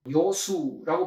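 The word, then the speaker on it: 樂水: 것입니다 자와의 공자 말씀하셨습니다 치자 요수라고 발음을 합니다 지자는 요수 물을 좋아하고요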